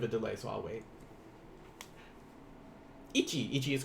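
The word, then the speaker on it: 一: Ich, like instead of ichi, ni, or so forth, they may go ich instead. It's going to be the same thing, but it's even though it's pronounced that way, the writing in Romaji will always be this way.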